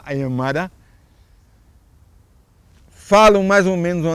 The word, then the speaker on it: Aymara: mesmo ponto de lá, o Aimará o Aymara, como eles pronunciam lá, Aymara, falam mais ou menos